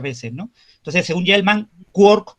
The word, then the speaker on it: quark: Entonces, según Gell-Mann, quark como partícula había que pronunciarlo rimando con la ciudad de Cork.